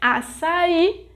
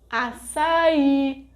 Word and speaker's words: açaí: And açaí is a oxítona because its sílaba tônica is I, the final syllable. Note that some words have some signs on top of the vogais, like água, açaí, pássaro, oxítona, tônica.